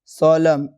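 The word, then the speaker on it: solemn: तो एन जो है ना जब किसी वर्ड के लास्ट में एम एन आता है तो एन साइलेंट होता है। जैसे autumn कॉलम डैम सोलम हिम अ मुझे लगता है कि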